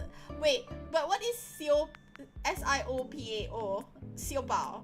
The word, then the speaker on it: Siopao: Siopao. Like, what is Siopao Lodge? Like, because I'm pronouncing it as though I'm pronouncing it like Cantonese style, and then I think of it as buns.